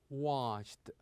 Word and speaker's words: washed: We usually pronounce the ending of this verb with the sound ta. With the sound ta. For example, we say liked, liked. Also worked, worked. And here washed, washed.